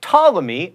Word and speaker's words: Ptolemy: It's prescription, not prescription, and realtor is only 2 syllables, not 3. Same with jewelry, by the way, and athlete. Asphalt, not asphalt, Ptolemy, and Bacchus.